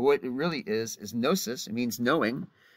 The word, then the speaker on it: gnosis: producing the next word the G is silent although you can say it for fun if you want venosus but what it really is is gnosis it means knowing it's